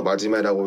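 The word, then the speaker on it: 馬締: 그러니까 이 캐릭터의 이름은 말맞자에 저 매질 채자, 그러니까 체결하다 할 때 그 채자를 쓰는데 그렇게 해서 마지메라고 읽습니다만 일본어로 마지메라고 하면은 열심히 하는 사람이라는 뜻이거든요.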